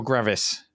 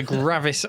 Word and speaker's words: Gravis: Gravis or Gravis? Gravis. Dave, Gravis Ultrasound. I've never heard Gravis. that pronounced that way in my life.